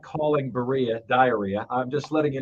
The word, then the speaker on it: Berea: like oh okay so a way I can remember it is it rhymes with diarrhea okay that that's the way I can remember it because it looks like Berea today I really wants